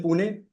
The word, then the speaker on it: Pune: I I'm from I'm from Pune Mah. That's how you pronounce it.